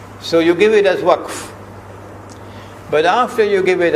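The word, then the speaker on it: وقف: No, you must not say waqaf, because that word is in the Quran, you must pronounce it as it is in the Quran. So you give it as waqf.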